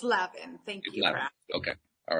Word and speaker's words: Lavin: of your last name is it Le or Lavin it's Lavin thank you okay all